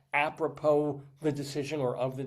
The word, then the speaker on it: apropos: Uh, from the French phrase a propo meaning to the purpose. The word's emphasis lands on the last syllable. Silent S da da da typically